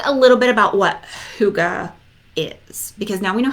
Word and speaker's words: hygge: I just started calling it higgy because that's what it looked like to me and it wasn't until I don't know I bought my first book about it and there was like a little pronunciation in part of it or I watched a there was a segment on a show about it that I learned that it's actually pron Ed Huga so I was a